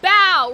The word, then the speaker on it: Bow: Oh, Bow rhymes with cow.